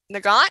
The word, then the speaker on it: Nagant: Nagant? Is that how you say it? Mm-hmm. Nagant. Someone that knows guns? Yep, that's Nagant.